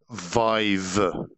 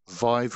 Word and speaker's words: Vive: uh specifically a um Vive Vive rhymes with five bug is my understanding